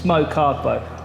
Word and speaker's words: Kargbo: It's Mokargbo.